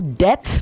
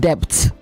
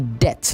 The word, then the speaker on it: debt: It is also debt, not depth. The B in debt is silent. So you say debt, not depth.